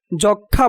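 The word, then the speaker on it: যক্ষ্মা: যক্ষা বানানে কয়ে মূর্ধন্য শ-এর পরে তৃতীয় বর্ণ হিসেবে মফলা যুক্ত হওয়ায় মফলার উচ্চারণ হবে না।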